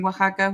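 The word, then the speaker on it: Oaxaca: good how do you say waka isaka is Waka I actually pronounced it right you pronounced it right yeah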